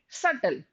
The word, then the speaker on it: subtle: the pronunciation is here the B part is silent you don't have to say subtle you have to speak subtle subtle and imperceptible imperceptible